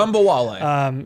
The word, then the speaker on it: Ogunbowale: I would love to see you pronounce it correctly. Ogunbowale.